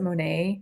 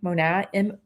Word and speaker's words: Monat: They're called, I pronounce it Monat, Monat.